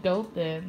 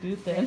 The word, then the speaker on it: Dothan: It's like Dothan. It's like Dothan. The H is silent. It's Hebrew, so it's the Dothan.